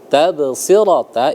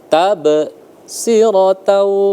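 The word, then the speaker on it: تبصرة: Nah, tabsirata itu di tengah maka dia dibaca sugra kecil. Maka tidak perlu sampai berhenti. Enggak perlu bacanya tabsiratau. Enggak perlu karena dia kecil, ringan. Jadi sekali lewat aja.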